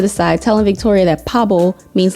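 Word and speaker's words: 바보: Basically, Suga was off to the side telling Victoria that Pabo means like cool and dope. So she's like, "Oh, V, you Pablo."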